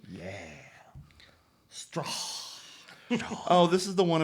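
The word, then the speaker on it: Straughan: Peter Strawn, I believe is how you pronounce that last name. Yeah. Strawn.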